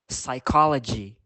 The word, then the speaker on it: psychology: him Autumn next the letter P can be silent for example receipt psychology it can also changes